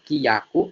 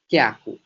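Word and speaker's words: きゃく: Jadi tidak dibacanya kiyaku, namun dibacanya kyaku.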